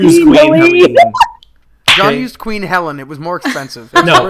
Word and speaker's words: Queen Helene: No, I actually know it was Queen Helene, but I didn't want to say that, and then you guys have not heard it pronounced that way.